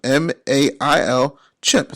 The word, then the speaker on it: MailChimp: Just like I said, MailChimp, M-A-I-L, Chimp, C-H-I-M-P, right? Chimp rhymes with pimp.